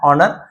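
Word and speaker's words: honour: एच हट जाता है, ऑनर पढ़ते हैं क्योंकि ये आपका साइलेंट लेटर होता है एच, ठीक है।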